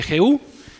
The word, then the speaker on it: Jehú: Y hoy vamos a ver acerca de la vida de Jehú, rey de Israel. Algunos lo pronuncian Jehú con Y, pero ahorita vamos a ver quién fue este Jehú, Dios de Israel.